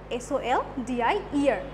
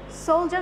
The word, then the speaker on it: soldier: So number 14, soldier, S-O-L-D-I-E-R, soldier. Now look, there is D-I-E-R, but it pronounced like G, soldier, and soldier is the military person or the army person.